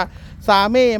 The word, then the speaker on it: SAME: ผม ไป ศึกษา ดู มัน ก็ อ่าน ว่า เซม นะ ครับ บาง คน ก็ อ่าน ว่า ซาเม มั่ง แซม มั่ง อะไร เงี้ย อ่าน เอา ว่า เซม นะ ครับ เท่า ที่